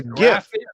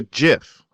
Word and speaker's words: GIF: this problem speakers pronounce first letter GIF two different ways a hard G gift goat gate for got a gate or the soft G gin Jim gem some other rapper but